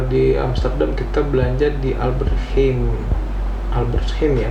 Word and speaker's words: Albert Heijn: Kalau di Amsterdam kita belanja di Albert Heijn ya bacanya itu.